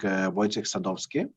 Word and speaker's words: Wojciech Sadowski: Our session shall be moderated by my distinguished colleague Wojciech Sadowski from French, Polish, Hungarian law firm Queritius. Am I right in pronunciation?